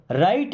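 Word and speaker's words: write: देखिए यहाँ पे डब्ल्यू से शुरू हो रहा है बट हम राइट पढ़ते हैं क्योंकि डब्ल्यू के बाद कभी आर आ जाएगा ना तो डब्ल्यू साइलेंट रहेगा, उसको नहीं पढ़ा जाएगा।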